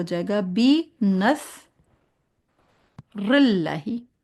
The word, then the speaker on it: بِ: लेकिन इसके नीचे क्योंकि ज़ेर है इसलिए बी कहेंगे।